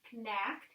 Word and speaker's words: knack: word is actually knack the k is silent but if you're trying to sound it out you might say connect connect knack this word is knack